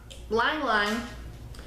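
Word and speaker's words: ylang-ylang: Lang Lang, Lang Lang, Lang Lang, Lang Lang. Lang Lang is actually the pronunciation.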